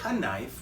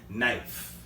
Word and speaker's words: knife: Keep in mind, guys, K can be silent.